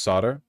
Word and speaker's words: solder: It's pronounced solder.